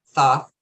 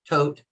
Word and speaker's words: Thoth: they had both right thoth tote some people pronounce it different t-h-o-t-h right she wrote the emerald